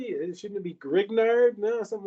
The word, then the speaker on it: Grignard: the green yard reaction or it says your green yard reagents and green yard reagents are often used